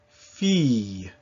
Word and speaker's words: fille: As a general rule, this is pronounced E. So the sound E, and then with a little Y sound at the end, E, as in famille, fille. One exception that you should know sooner than later is ville.